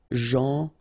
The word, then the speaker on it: gentil: Gentil. So it's a strange one because here this final L is not pronounced. Okay? Gentil.